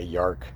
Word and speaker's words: York: It's funny because the way it's spelled looks like Yark. It's not really an O, it's like an A, Yark.